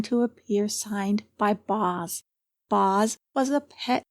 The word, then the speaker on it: Boz: Pronounced through the nose, it became Bozes and then Boz.